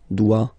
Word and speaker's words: doit: Il, elle, doit. Final T not pronounced. Il doit, elle doit. Okay? So if you have a look at these forms, phonetically they are the same forms. Okay? So doit, doit, and then doit.